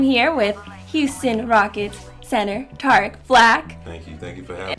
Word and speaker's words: Tarik: Because it's an Arabic name, and in its origin, it is Tarik. So most in the Middle Easterners would pronounce it that way, but my mom decided to switch it up and do what she wanted to do with it. Okay. And so that's why my particular name is Tarik, but the actual pronunciation, the way it's spelled, is kind of technically Tarik.